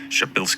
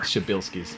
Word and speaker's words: Przybylski: a bit of Polish I'm told that something close to the proper pronunciation for this star is shabil star shabil I'm sure I got